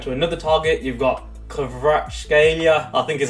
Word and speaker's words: Kvaratskhelia: Moving on to another target, you've got Kvaratskhelia, I think is how you pronounce it, from Napoli.